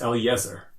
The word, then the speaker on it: Eliezer: I normally do and he's like no it's Eliezer yeah soup just like it's spelled amazing Elio and Eliezer that's